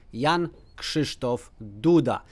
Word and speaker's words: Jan Krzysztof Duda: If you want to say like native Polish, then you have to say Jan Krzysztof Duda.